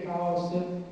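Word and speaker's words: Χάος: Per dire Chaos in greco si scrive con una lettera che è la chi che va pronunciata spirata, quindi Chaos è la bocca aperta, come dire.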